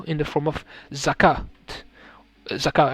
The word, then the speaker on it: zakat: Zakat, I don't think you don't pronounce the T.